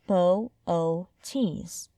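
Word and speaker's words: Boötes: Laurie glancing at the sky is to pronounce its name correctly Bootes is pronounced bow o tees and the next thing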